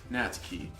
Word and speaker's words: Natsuki: Natsuki.